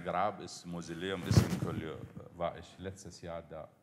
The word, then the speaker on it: Collioure: Ist das richtig ausgesprochen? Collioure oder Collioure ist an der Grenze zu...